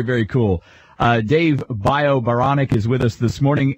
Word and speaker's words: Baranek: be I thought okay my last name is bonic it rhymes with bionic I said I I